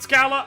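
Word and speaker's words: Schala: Do you pronounce it Scala? I pronounce it Shala.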